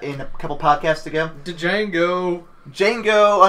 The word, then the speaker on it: Django: Django Unchained. The D is silent.